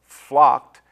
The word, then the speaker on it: flocked: The ending sounds of blessed, flocked is pronounced more like a T than a D.